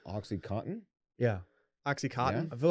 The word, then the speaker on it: OxyContin: about it focuses on oxycontin you hear about this i've dabbled it's a question yeah do most people pronounce the n in that word it felt like you